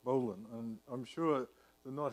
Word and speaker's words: bowline: in English pull the bowline pronounced bowline and I'm sure the